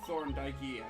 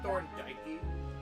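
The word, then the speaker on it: Thorndyke: of art really The Thorn dyy Academy of Fine Arts did you say Thor dyy I don't know Thor the E is silent thorn thorn okay so okay so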